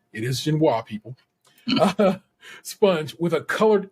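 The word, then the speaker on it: génoise: a vanilla ginoa I like that the Americans pronounce it ginoa and like the British who call it genoise it is ginoa people sponge with a colored inlay and I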